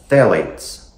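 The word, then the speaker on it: phthalates: all right guys so phalates it's spelled with a pH the pH is silent okay theat um so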